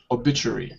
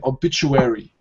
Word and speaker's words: obituary: this word here in in British English it's obit obit obituary now in American obituary so slight difference in the pronunciation when it comes to the U all right that's that's